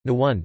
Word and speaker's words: Naoned: Nantes, N-T, listen, Gallo, Nantes or Nantes, pronounced N-T or N-T, Breton, Nouent, pronounced N-Went, is a city in Loire Atlantique on the Loire, 50 kilometers 31 miles from the Atlantic coast.